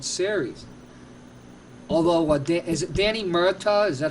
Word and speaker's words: Murtaugh: Although, is it Danny Murtaugh? Is that how you pronounce his name? Yeah, Murtaugh of the Pirates.